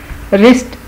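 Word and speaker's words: wrist: रिस्ट, Urdu में रिस्ट को कलाई कहते हैं, इसमें भी डब्ल्यू साइलेंट है।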